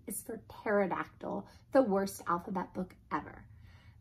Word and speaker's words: pterodactyl: the letter P and there's no extra silly letters and up front like pterodactyl shut up pterodactyl that starts with a P that's ridiculous a silly